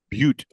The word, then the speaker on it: Butte: And the one, okay, how do you pronounce Butte? Butte.